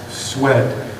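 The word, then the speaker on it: Szwed: A gentleman by the name of Alex Swed, it's written S-Z-W-E-D, so I had to work on it twice. I said, so the Z is silent?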